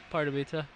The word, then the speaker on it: Pardubice: Now, I'm going to go ahead and try to pronounce the hometown. Pardubice? No, it's... I messed that up, didn't I? No, it's just Pardubice.